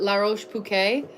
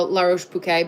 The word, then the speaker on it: La Roche-Posay: I was corrected on my pronunciation, but La Roche-Posay, that brand is what I use, Bella, on my skin.